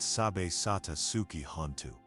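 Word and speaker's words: Sabbe satta sukhi hontu: Sabatasuki hu pronounced sab satasuki hanu.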